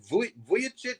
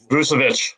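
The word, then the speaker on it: Vučević: And as far as getting rid of your only all-star and sending, is it Vujicic? Do I always say it wrong? Vucevic. Nikola Vucevic, yeah.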